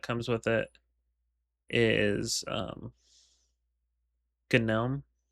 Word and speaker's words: GNOME: desktop environment that comes with it is um Gnome. It's pronounced gnome because it's the plan words for the word uh for the term gnu.